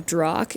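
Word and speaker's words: drokk: So the reason why I'm confused with the term Drock is because of all the different situations that they use it in.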